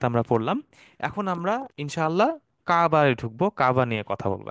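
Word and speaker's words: كعبة: হারাম কাফ আইন বাতা কাবা এখানে একটা আইন আছে এখানে আমরা উচ্চারণটা খেয়াল রাখবো কাবা বললে হবে না কাবা একটা আইন আছে মাঝখানে কাবা আল বাইতুল হারাম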